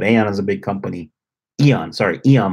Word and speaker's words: Aeon: They have in the mall, Aeon Mall, which is close to here. But Aeon is a big company. Eon Mall is how you pronounce it.